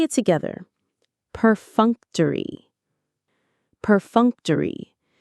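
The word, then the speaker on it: perfunctory: Peruncttory. Peruncttory. The stress is on the second syllable.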